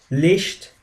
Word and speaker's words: Licht: And this occurs wherever right after vowels like e or umlauts, especially whenever you see seha after umlauts or u, it always takes the sound sh. Like examples would be Nunchen, Licht.